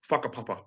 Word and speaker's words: whakapapa: Spelt with a WH, okay? WHA, whakapapa.